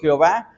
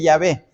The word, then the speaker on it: Jehová: de tal manera que la pronunciación español espñola para nosotros Jehová no es la pronunciación correcta nosotros nosotros nos guiamos por esa pronunciación pero propiamente Se ha perdido en la historia la verdadera pronunciación en las Biblias católicas